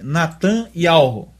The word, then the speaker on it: Netanyahu: Veja, se a gente corrigir esse nome no hebraico corretamente, vai ficar Beniamim, né? Natan Yahu, que seria o certo. Netan está sincretizado. E Yahu é uma pronúncia mais do aramaico.